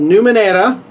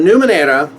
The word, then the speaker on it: Numenera: So anyway, so Numenera, however you want to say it. I tend to want to say it like the Spanish way and do a hard R on there.